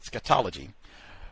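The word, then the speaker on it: scatology: Sketology Preoccupation with excrement scatological sexual interest with excrement.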